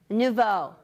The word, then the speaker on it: Nouveau: Nuvo or New? Nuvo. I said it wrong.